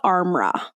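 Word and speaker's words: Armra: go I think it's called Arma okay a r m r a i think is how you say it or is how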